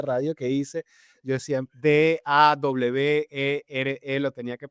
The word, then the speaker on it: Dawere: Les tengo que explicar por las primeras entrevistas de radio que hice, yo decía, "D a w e r e lo tenía que pronunciar.